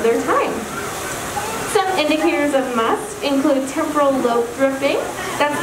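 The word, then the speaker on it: musth: male elephants go through something called must pronounce m-u-s-t and that is a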